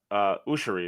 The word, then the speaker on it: Ouschan: BJ Ouschan is how to pronounce his name, is what I found out.